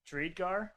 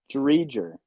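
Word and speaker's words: Driedger: How did you just pronounce his name, Pat? Drydegar?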